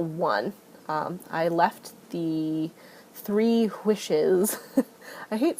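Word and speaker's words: Whish: I left the three wishes I hate saying it like that but it's wish w-h-i-s-h and I pronounce that and w-i-s-h the same wish and wish uh but it's wishes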